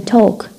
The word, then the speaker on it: talk: l as in talk. d as in Wednesday. ما في d. e as in clue. so silent letters one of the most problematic area for English learners, for Arabic learners of English.